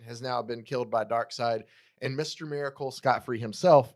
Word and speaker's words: Darkseid: I used to think it was Dark Seed.